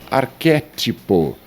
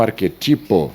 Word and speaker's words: arquétipo: A palavra arquétipo e não arquetipo seria arquétipo. A palavra austero e não austero.